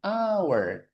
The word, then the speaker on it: hour: Jujur itu tulisannya hones ya, dibacanya an h-nya hilang ya kayak jam kita tulisannya ya, bacanya hour.